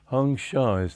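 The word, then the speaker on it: Hong-Sau: beginning is beats hyung so I am he hyung Shaw's the way they said in Bengal and so that's the way I prefer to pronounce that sau hyung Shaw and with that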